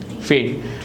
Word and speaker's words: feign: G is silent. શું બોલાય આને? feign.